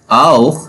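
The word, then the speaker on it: auch: ए यू सी एच। ये क्या होगा? आओ। इट्स प्रोनाउंस आओ।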